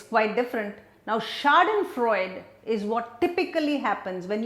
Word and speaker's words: Schadenfreude: word German word schadenfreude so it's pronounced shock then Freud and you can see the spelling it's quite different now schadenfreude is what typically happens